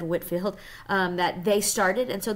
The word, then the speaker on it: Whitefield: One of those things actually was the evangelical revival in England that John Wesley and George Whitefield, it's spelled Whitefield, but it's said Whitefield, that they started.